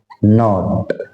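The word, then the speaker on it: knot: है फिथ नंबर का नॉट नोट में के साइलेंट रहता है इसको बोलेंगे नाइफ और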